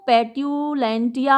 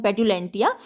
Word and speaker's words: petulantia: और जो रोमन इसका इक्विवेलेंट है वो पेट्यूलेंटिया है, PETULANTIA, शायद यही स्पेलिंग है, पेट्यूलेंटिया।